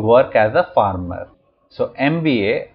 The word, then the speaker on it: MBA: as a farmer so MBA would take n as it is pronounced as a series of letters and M sounds like